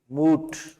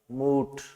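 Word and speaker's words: moot: इसका देखो प्रोनाउंसिएशन कुछ इस तरह से होगा, लॉन्ग साउंड होगी, मूट। प्रोनाउंसिएशन कुछ इस तरह से होगा, मूट।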